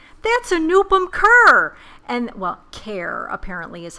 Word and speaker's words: Kaur: And, well, Kaur apparently is how you pronounce his last name.